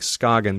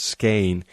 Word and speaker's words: Skagen: It looks like Skagen, but it's pronounced Skane, and it's this really wild and fantastic place where two seas meet.